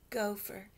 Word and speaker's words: gopher: was a good oh so if we cut that into two syllables the first syllable is go Gio we it's open there's no letter after that it's called an open syllable so it's the long o sound gopher there was a